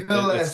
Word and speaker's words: Gillaspie: It's He's Gillaspie, but it's Gillaspie.